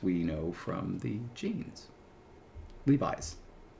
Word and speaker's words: Levi: Did you How did you pronounce it at first? Levy Strauss and Co. Pretty sure that's how it's pronounced. It's Levi, isn't it? Levi Strauss. Has it always been that?